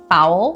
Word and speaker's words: foul: Dá até vontade de falar fault, né? Fault, mas fault é culpa, não tem a ver com fou.